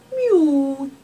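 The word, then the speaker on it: miaou: the cat Lucia Di so rather meow it's Mew in French okay now you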